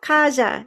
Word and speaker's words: Kazia: So I'm going to start with Kazia. Is that how you say it? Kaja? Kaja.